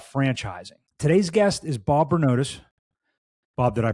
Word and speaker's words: Bernotas: Today's guest is Bob Bernotus. Bob, did I pronounce that right?